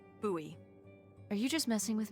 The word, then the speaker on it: Bowie: It's actually pronounced Bowie. What? No, it's like the last name, like David Bowie. Different last name. Bowie.